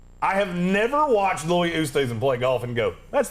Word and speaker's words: Oosthuizen: Oosthuizen.